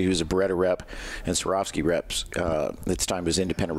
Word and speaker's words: Swarovski: how to pronounce it it's like swear off skiing which were Oskie yeah that's Cavour ski it's not it's a Swarovski yeah I mean nobody